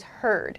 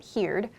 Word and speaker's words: heard: here i've used heard the pronunciation is heard not heared heard i heard the